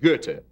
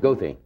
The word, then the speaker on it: Goethe: street name for him in Chicago which they pronounce Goethe II we've just made a terrible tactical and hygienic error have we not what's that you put it out okay but Goethe is honored goatee goatee is is actually honored by